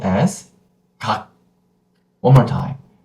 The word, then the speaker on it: 각: I will pronounce the first syllable as 각. One more time. 각. 각. That's it. It is not 가그 or 가크. It is not 가그 or 가크. It is 각.